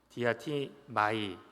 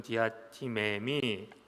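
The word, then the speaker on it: διατίθημι: 이 단어는 디아티마이 또는 디아티메미라고 우리가 발음을 할 수 있는데요.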